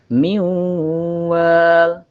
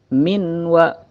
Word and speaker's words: مِن وَالٍ: Apabila nun mati bertemu dengan huruf idgham, maka dibacanya agak melebur. Miu, miu, ditahan 2-3 harokat. Miwal, miu, bukan minwa atau miwa, miwal.